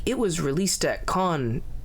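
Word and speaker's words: Cannes: it was a big hit at Cans. It uh God, I'm sure someone's going to beat me up for pronouncing it that way. Con um it was a big hit at Khan.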